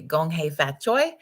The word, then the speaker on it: Gong Hei Fat Choi: Gong Hei Fat Choi is how you say Happy New Year for the Lunar New Year, Chinese New Year, and wishing you an exceptional day.